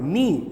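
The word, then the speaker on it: knee: ठीक है, अच्छा एक बात बताओ, के एन डबल ई, अब यहां पर नी क्यों पढ़ रहे हैं? नी, नी माने न का ही उच्चारण हो रहा है, के का उच्चारण क्यों नहीं हो रहा है? के को हम क्यों नहीं प्रोनाउंस कर रहे हैं?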